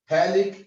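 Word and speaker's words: phthalic: बेटा pH silent है, थैलिक acid, और इस थैलिक एसिड पे हम लगाएंगे क्या, अमोनिया।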